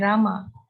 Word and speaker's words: Rama: as hari krishna krishna and rama rhymes with drama are sanskrit words hare